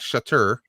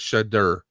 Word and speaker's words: Shudder: Shudder, not Shutter, but Shudder. Yeah, SHUDDER.